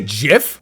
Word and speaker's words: GIF: did you say jiff jiff yeah you know it's gif i'm i'm over it i'm not i'm not even starting it no it's not it's jiff we're going to take pronunciation advice from someone that grew up both